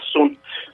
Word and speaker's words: sunt: Sunt, esse T final é mudo. O português, o brasileiro, o falante brasileiro, tem uma dificuldade de fazer a consoante muda no final, porque em geral nós não temos essa pronúncia, né? Mas é sunt, são em português, é verdade.